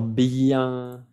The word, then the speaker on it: bien: Alors bien, bien, la N no se pronuncia, es un sonido nasal.